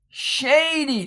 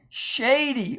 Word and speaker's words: shady: Shady. Only one consonant. It ends a syllable. And here you have a consonant digraph, which is one sound. So we'll just put C. CV, and it's long.